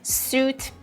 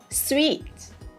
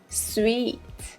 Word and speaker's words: suite: Number 13 is not sweet, it is sweet, sweet. Yeah, a rather long E sound here we have.